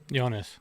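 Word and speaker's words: Joonas: Jonas. Yeah. What about his last name? Swatamo. Okay. I've always wondered how to pronounce that thing.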